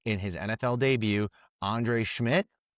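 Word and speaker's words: Szmyt: his NFL debut, Andre Schmidt, something along those Schmidt, it's spelled like SC like it does not look like Schmidt.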